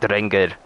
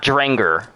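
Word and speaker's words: Drengr: draenger in is anglia i like saying it the way that they pronounce it trengar not dranger not like an american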